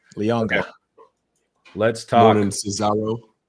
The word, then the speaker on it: Leonga: No Leona. Leonga Lafau. There we go. Official on the pronunciation guide. Leonga.